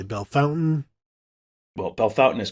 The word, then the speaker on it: Bellefontaine: Tavian Saint Claire from Bellefontaine you may say belfontaine you may say Bellefontaine well Bell Fountain is correct so you should only say Bellefontaine